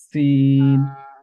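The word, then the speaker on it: س: গোড়ার সাথে আমরা লাগাবো পেটের সাথে লাগাইলেও সিন প্রোনাউন্স করা যাবে ইনশাআল্লাহ কিভাবে করব লেটারটা হলো সিন সিন সিন সা সাসিসু সিন সায়াস লাং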